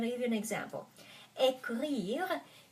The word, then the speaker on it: écrire: Écrire, because ECR, the second consonant is R, I have to put an accent on E.